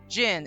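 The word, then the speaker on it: jinn: to yes so in the journal for phasmaphobia gin and it's spelled j-i-n-n I want to be very clear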